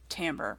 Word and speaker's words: timbre: Timbre is how you spell that, but it's not timbre, it's timbre. I don't know why. It's a language thing.